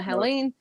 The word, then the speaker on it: Helene: It's Summer Helene, and actually Helene.